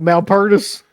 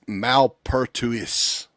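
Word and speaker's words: Malpertuis: It's Malertis, baby. Great. Is that how you pronounce it? Malpertis. No, it's Malpertuous.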